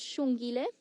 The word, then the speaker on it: Xongile: view that we get Matthews her name is Sean Gillis spelled with an X which in the locals at stronger language is is pronounced sh so her name is Sean Gillis which means beautiful and she is beautiful when